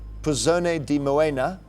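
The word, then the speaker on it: Puzzone di Moena: d i then m o e n a pone D moena from the trentino region of Italy what type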